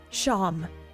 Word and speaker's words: Seam: The name Seam, pronounced Sham. Sham?